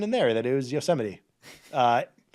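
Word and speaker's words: Yosemite: Um and I learned then and there that it was Yoseite. Uh not how it looks. I I will defend myself. It looks like yosomite. Uh, well, yeah, of course. But it's pronounced yuseity.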